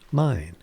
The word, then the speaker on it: Main: While not to digress too much, the mine river in Germany, although spelled like the English man, is actually pronounced mine.